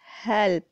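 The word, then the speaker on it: whole: यहाँ पे भी W की साउंड जो है वो साइलेंट है.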